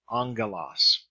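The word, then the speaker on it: ἄγγελος: number eight on Gillis remember two Gamez next to each other heaven ng so angle Oz 9 we are we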